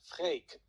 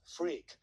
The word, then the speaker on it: Freek: So my name is Freek, and for the native speakers of English, the correct pronunciation of my first name is Freek, and not Freak. So it rhymes with cake.